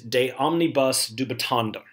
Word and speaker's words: de omnibus dubitandum: The Latin phrase for the class motto is de omnibus dubitandum.